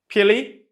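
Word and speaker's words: pili: here can you pronounce this how would you pronounce this this pilly which is plural so singular is called pile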